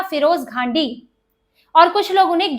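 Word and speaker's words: Ghandy: फिरोज गांधी नहीं था उनका नाम था फिरोज घांडी और कुछ लोग उन्हें गैंडी भी कहते हैं घांडी या गैंडी ये दो तरह से इसको पुकारा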